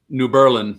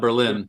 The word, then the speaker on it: New Berlin: Even New Berlin, Wisconsin, they say New Berlin, not Berlin. New Berlin.